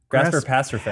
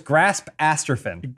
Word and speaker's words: Grasp Asterfin: Grasper Pasterfin. Pasterfin. Yeah. It's Grasp Asterfin. Right, that's what it was. Grasp Asterfin. That was his name. Despite how you're pronouncing it, there is no space or hyphen.